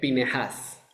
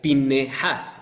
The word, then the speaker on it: Pinejas: en estos casos fue Pineas, que como dato curioso en la pronunción correcta es pinejas, aunque casi no no suena realmente esa esa e que viene después de la n español, pero pero por